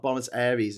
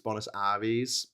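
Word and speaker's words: Buenos Aires: Apparently it's not Bonis Aries, it's Bonis Aris.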